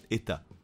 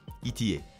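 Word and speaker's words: ETA: ne t a pourtant la prononciation correcte des états en tout cas c'est comme cela que le prononce les membres des équipes deux états dans leur entreprise en suisse son nom complet est d'ailleurs état est sa manufacture horlogère suisse lors d'interventions anglophone on entend souvent des amateurs d'horlogerie voir des experts du secteur et peler les trois lettres en anglais et donc appelé la marque itier si vous connaissez un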